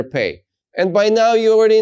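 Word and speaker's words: פ: be a different sound when you have the dot in the letter P you're going to pronounce it as PA like Peter when you don't have the dot in the letter p you're going to pronounce it as a softer sound fa so with the dot it's PA like Peter without the dot it's like Philip fa both are the letter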